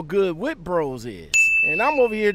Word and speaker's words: Witte Bros: help you i yes is this wit bros witty bros yes Oh witty bros that's how you pronounce huh huh okay William